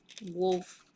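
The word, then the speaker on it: Wolff: it's a British thing wolf but it's spelled w-o-l-f-f those are very nice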